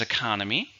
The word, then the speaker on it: economy: How many syllables? Economy. There are 4 syllables. Stress is on the second syllable.